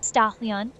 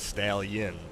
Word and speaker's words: Stallion: Ston, you said my name all funny. Say it's Stallion, not whatever you said. Stall yin.